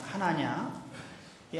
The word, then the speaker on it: 하나냐: 기록입니다 아나니아와 삽비라는 부부입니다이 아나니아는 이름은 히브리 식으로 발음하면 하나입니다 하나냐이 하나라는 말은 여호와께서 은혜롭게